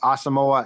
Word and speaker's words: Asamoah: talk about full service asamoa is how the Vikings think it's pronounced okay so if there